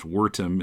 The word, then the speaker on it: Wertham: Yeah, well, if you know anything about the history of American comics, you know about Frederick Wertham, or you might hear it pronounced Wertham in Wertham, German pronunciation.